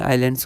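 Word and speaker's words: island: यहां पर एक आपका बे ऑफ़ बंगाल में आइलैंड्स होते हैं। ठीक है? एनसीआरटी एक्सरसाइज का क्वेश्चन है। यहां पर एस हमारा साइलेंट है।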